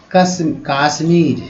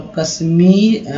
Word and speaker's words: कश्मीर: तो कश्मीर हो गया, ना कि काश्मीर। लोग बोलते हैं काश्मीर और जम्मू एंड कश्मीर बोलते हैं, लेकिन एक्चुअली कश्मीर होता है।